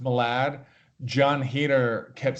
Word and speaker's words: Malad: my dad wanted me to tell you it's pronounced Malad I know it's pronounced Malad Jon Heder kept saying Molag that turn okay thank you great hello hiya